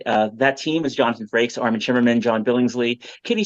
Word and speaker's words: Jonathan Frakes: Pancreatic Cancer team, and they mispronounced Jonathan Frakes' name. They Did they say they Franks? announced no, they announced him as Jonathan Frakes, and then Nice.